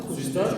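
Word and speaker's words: хуыздæр: «З», «ж» получается. Да, «з» это «ж», «хуждар» вообще мало очень получается.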